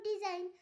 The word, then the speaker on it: design: শব্দের শেষে IGN থাকলে তার উচ্চারণ হয় আইন। এক্ষেত্রে জি অনুচ্চারিত থাকে, যেমন ডিজাইন, DESIGN ডিজাইন। এখানে জি এর উচ্চারণ হয়নি।